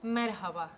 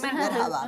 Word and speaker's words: merhaba: Merhaba. Es hasta merhaba, es difícil, pero se pronuncia merhaba. Hola, hola, es merhaba.